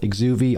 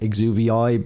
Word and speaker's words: Exuviae: whatever you want to call it is called exuvi I did actually look up how to pronounce that because I was kind of calling it exuberi but it's exuby apparently and I believe it's like the skin